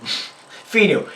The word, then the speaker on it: Pheanoo: or pronounce them um the brand i believe is called phenol finnu yeah not phenol fenu that's p-h-e-a-n-o-o and they were nice